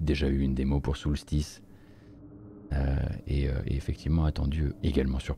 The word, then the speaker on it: Soulstice: Soulstice. préfère le prononcer comme ça, hein, sinon vous allez pas le retrouver.